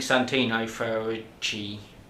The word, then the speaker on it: Santino Ferrucci: I think Santino Ferrucci.